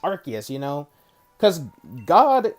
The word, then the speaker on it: Arceus: genders a lot of people still say arceus even though it's pronounced arc they literally pronounced as arceus in the in the trailer for um legends